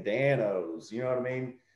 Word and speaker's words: Dan-O's: all capital letters so people were pronouncing it like danos or donos they weren't seeing danos you know what i